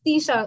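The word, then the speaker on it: Twisha: It's Tisha. Okay, so W is silent, basically.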